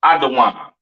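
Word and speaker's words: אדום: Edom, Idawam, the devil that the Bible speaks of, your oppressor, the so-called Caucasian man, woman, and child, pronounced Idawam.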